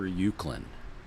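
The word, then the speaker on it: Uwchlan: paper mill in the Brandy Wine in Upper ukand Township is that how you pronounce thatand yes yeah okay by Downing Town and Chester Springs yeah yeah upper ukand and uh Brian says what up little uh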